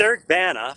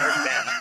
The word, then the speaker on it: Eric Bana: It's Eric Bana, first of all. Let's pronounce the guy's name right. He's a fucking movie star. Get it right. It's Eric Bana.